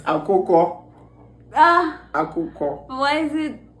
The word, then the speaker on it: akoko: Is it a koke? A-K-O-K. I don't know. A koke? Jesus! A koke. It's akoko.